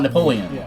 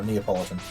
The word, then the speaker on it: Neapolitan: pronounce the name nepoleon I used to call it Napoleon no Neapolitan Neapolitan but instead of uh